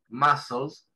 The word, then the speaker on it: muscles: ¿sí?, la palabra muscles, así se pronuncia, muscles, la C no se pronuncia, muscles, músculos, en inglés.